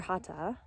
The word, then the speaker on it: Hatha: And just to point out that Hatha, or Hatha in the Sanskrit pronunciation, means oneness and togetherness.